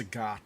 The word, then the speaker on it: Sagat: you say his name, I think um, it's Sagat.